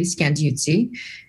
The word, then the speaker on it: Scandiuzzi: How did you meet Carlos Scandiuzzi? Yeah, make sure I pronounce that right. And what led you to found IndieFlix? So Carlo is one of my best friends, and you said his name correctly, Scandiuzzi.